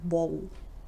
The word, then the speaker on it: bowl: It's something average, like bowl, bowl. So it's a front sound, bowl, not back sound, back vowel or middle vowel. It's a front vowel, bowl, but we pronounce L like a dark L.